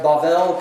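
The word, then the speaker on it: בבל: The Hebrew word is pronounced Bavel, confused, closer to Babel.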